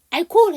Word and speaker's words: alcohol: 여러분이 alcohol에서 H가 묵음이라는 경우를, 그러니까 묵음이라고 말씀하시는 경우가 있는데 H 묵음 아니에요. 알코올이에요. 우리는 알코올 해갖고 H가 묵음일 것 같은데 알코올이에요.